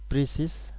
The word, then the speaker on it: précis: The word precise, pronounced as précis, is a French word which means a certain form of a speech or writing.